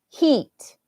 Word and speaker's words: heat: height and this is heat okay and heat oh can you see that height heat heat rhymes with sheet the one you put